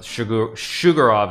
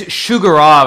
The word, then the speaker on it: Sjugirov: I mean, it's Sjugirov, I think. Daniel would know better than I would in terms of actually pronouncing it, but yeah, I think it's Sjugirov. It's because SJ, I think it's like Shug, you know, like Shug, what's his name? Shug Knight, right?